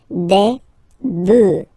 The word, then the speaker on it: bœufs: just add this S, but then pronunciation changes quite much, because you get des bœufs, alright, un bœuf, des bœufs, alright, then un œuf,